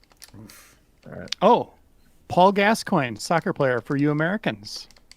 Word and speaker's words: Gascoigne: That's Michael Lunt does say it's pronounced Gascoigne, like the footballer.